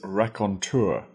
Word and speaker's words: raconteur: first new word is recontour Recon that is spelled r a c rack o n on t e Ur tur rakon a rakon is